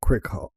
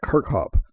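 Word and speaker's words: Kirkhope: you say it, and Grant Cricop Kirkhop, sorry, I was reading that wrong. Grant Kirkhop.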